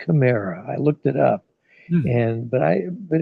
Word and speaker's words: chimera: I used to pronounce it chimera, which is like a dreamy illusion, but it's really pronounced chimera.